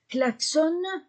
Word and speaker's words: klaxonne: ne claxonne ne cllaxonne la terminaison du verbe ne se prononce pas klaxonne pas prenom o n